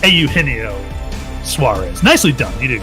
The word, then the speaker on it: Eugenio: all of botball especially it should it should really be Eugenio but it's aino Suarez nicely done you